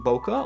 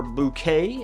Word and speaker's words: bokeh: which give a very pleasing bokeh or bouquet if you're prone to mispronunciation it's particularly rounded once